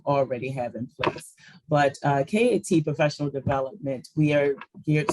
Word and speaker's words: CAT: Well, first, it's pronounced KAT, so very easy. Learn something new every day. Very easy to make that mistake.